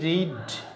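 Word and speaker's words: read: পড়ার ইংরেজি রিড, past form রেড, spelling কিন্তু একই, past participle রেড, রিড, রেড, রেড, spelling একই, শুধুমাত্র উচ্চারণ আলাদা।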